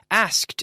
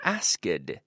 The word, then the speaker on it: asked: there it's very important asked not a skid but asked right I want to hear that hard T sound asked for help would